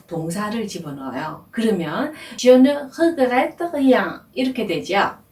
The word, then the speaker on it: regrette: 단어 발음을 regrette 이렇게 발음합니다.